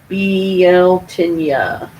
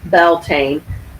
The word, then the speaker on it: Beltane: Beltane the sabbath of Beltane BL tinea never heard that pronunciation although most magical folks simply Beltane balls on May 1st